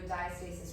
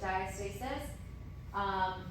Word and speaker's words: diastasis: All right, so moving on to diastasis recti.